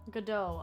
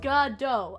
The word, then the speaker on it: Godot: beautiful beautiful piece also his name is pronounced gudo gadot oh godot okay i'll definitely like god dough okay now i know